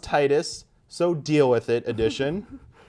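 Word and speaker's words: Tidus: Number 5, Final Fantasy X 10-2 HD Remaster, it's pronounced Titus, so deal with it edition.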